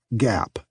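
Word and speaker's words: GAAP: In the United States, those rules are called generally accepted accounting principles or GAP, pronounced GAP.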